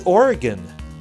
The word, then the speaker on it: Oregon: a gun exactly sorry did I pronounce that strangely yeah we say Oregon Oregon yeah you have to eat